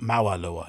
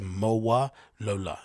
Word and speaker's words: Mowalola: isn't it it's not mawalua it's MOA Lola right yes she was the